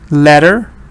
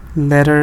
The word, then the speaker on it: letter: Letter. Letter is 1. Good. We don't say letter, we say letter. So stress is on let, and this is a schwa.